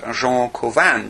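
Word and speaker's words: Cauvin: Calvin in Geneva or his name really should probably be pronounced Jean kovan because Calvin was in fact French and knock said of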